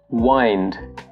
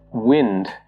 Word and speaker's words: wind: The next one is wind and wind. If you're using the noun form of this word, you pronounce it as wind. So for example, the wind blows over the hills. But if you're using the verb form of this word, you pronounce it as wind. And it could mean to turn something. So an example would be, sometimes I need to wind my automatic watch.